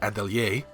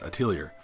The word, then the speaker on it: Atelier: Atelier series, which, yes, the proper way to say it would be Atelier, which is French for workshop, but it feels like the marketing in English I keep hearing is Atelier.